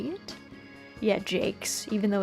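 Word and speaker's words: Brian Jacques: husband was like no he pronounces it Jake instead of Jack or Jacks so yeah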